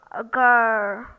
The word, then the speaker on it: girl: first wow sound are girl the R in girl is not pronounced the second sound or